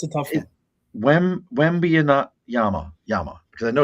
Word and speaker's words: Wembanyama: But I cannot never pronounce it. Wembanyama. Yeah, it's a tough one. Wembanyama.